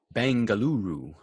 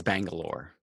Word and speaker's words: Bengaluru: a must as well bengaluru bengaluru is bangalore just how they say it locally oh yeah we had